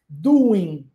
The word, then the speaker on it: doing: mesmo não se fala doing o ing esse G da dessas últimas três letras quando aplicado as palavras esse G não é pronunciado tá bom ele é mudo então What are you